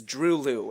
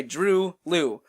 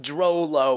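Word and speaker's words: Droeloe: Second to last artist is Drew Liu, and yes, it is pronounced that way, Drew Liu, like the word true, confirmed by the artists themselves. Not Drolo or anything like that.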